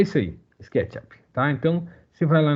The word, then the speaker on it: SketchUp: Algumas pessoas inventaram uma pronúncia para SketchUp aqui no Brasil. Não, é SketchUp. No americano fala SketchUp, né? É porque a palavra up, sozinha, ela é pronunciada up.